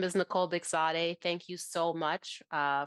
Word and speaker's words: Bekzadeh: ahead first M uh the pronunciation is beade I know it's a hard one I apologize blame blame my husband it's not my fault um so my name is Nicole bigade thank you so much